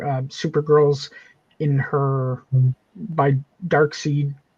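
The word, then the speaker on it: Darkseid: Dark seed. Dark side. Yeah. No, Dark Seed. Dark side. Oh, yeah. It is dark seed. Right. Right. Look at how it's spelled. Yeah. Missing proper proper English, not Americanized.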